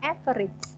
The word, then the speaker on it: AVERAGE: bisa menggunakan Sintak everage tulisannya everage tuh bacanya everich Kapan anak bacanya everich